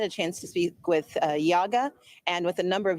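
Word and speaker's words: YIAGA: Democratic governance called Yaga well it's also called Yaga but it's spelled y-i-a-g-a but listen to what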